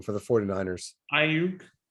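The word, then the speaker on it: Aiyuk: How do you pronounce Brandon's last name for the 49ers? Ayuk. Ayuk.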